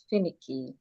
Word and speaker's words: finicky: word here is Fini the way you pronounce this as well finicky you're stressing fee stressing fi analysis please pronounce Madam Fini is stressing the first fi how about the